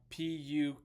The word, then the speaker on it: Pukekohe: It was like Pukekohe. So I somehow wrote that down very wrong. Blame me for any mispronunciations, any misspellings.